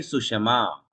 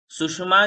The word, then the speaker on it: सुषमा: सुषमा में यदि आप सुषमा पढ़ोगे तो षटकोण का श आधा हो जाएगा, इसको पूरा पढ़ना है।